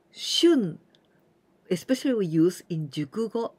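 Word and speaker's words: 春: joint Suga itades spring Haru Haru in oniyomi we pronounce shun especially used in the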